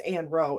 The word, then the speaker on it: Anne Roe: Put A-N long, R-O with a long.